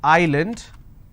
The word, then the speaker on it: island: a word which is island i don't pronounce this as island so s is silent here okay for example if